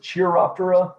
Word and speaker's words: Chiroptera: So that's where we get the chiroptera. Some people will pronounce it chiroptera. I'm just going to stick with chiroptera just because I like to say it that way.